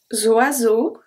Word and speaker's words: oiseaux: Où les oiseaux. Où les oiseaux. Oiseau, we don't say oiseaux. The X at the end is silent.